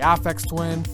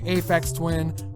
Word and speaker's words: Aphex Twin: we pronounce things differently i've heard it pronounced both ways i say affects twin people say aphex twin i say [ __